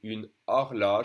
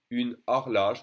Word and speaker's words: une horloge: O as in une horloge. It can be pronounced A or O. A, O. It depends. Une horloge, the H is silent for a clock. Une horloge.